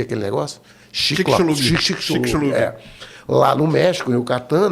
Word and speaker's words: Chicxulub: O choque lá de Chicxulub, como é que pronuncia aquele negócio? Chicxulub.